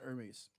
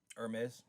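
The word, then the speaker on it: Hermès: it is actually pronounced hermes yeah hermes yes h is actually silent right um but uh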